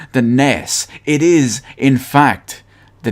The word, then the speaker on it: NES: you call it the ness kind of like ness from earthbound was just recently Nintendo